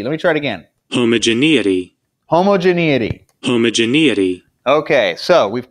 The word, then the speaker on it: homogeneity: We're going to use chi-square test for homogeneity. You know what? I know I'm going to keep mispronouncing that.